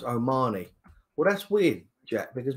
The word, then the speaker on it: O'Mahony: By the way, boys, it's pronounced O'Mahony.